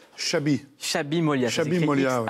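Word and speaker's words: Xabi: Comment ça se prononce? Chabi.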